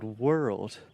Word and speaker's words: world: And then you can add a stress to the second syllable. We're old, we're old, we're old, we're old, we're old, we're old, world. And that just combines together and creates that beautiful RL sound in English.